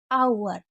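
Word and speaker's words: hour: यहाँ पर एक बार और रिपीट कर देती हूँ कि एच से शुरू होने वाली कुछ ऐसी वर्ड मीनिंग होती है जिसमें एच को नहीं पढ़ते हैं।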